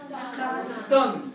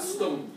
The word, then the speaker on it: stunned: Well, I bet my friends will all be stunned. Not stoned. No? Stunned.